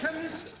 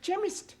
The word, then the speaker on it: chemist: me k e n chemist does not begin with a k it sounds like it begins with k CH but that is making it chemist no the CH is